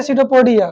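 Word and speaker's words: pseudopodia: हाँ, हाँ, P silent है सीडोपोडिया।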